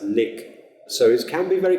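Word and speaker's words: lyk: The word L-Y-K, like, has to be pronounced lick.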